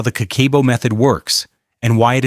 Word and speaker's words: Kakeibo: Pronounced Kakeibo, it literally translates to household financial ledger.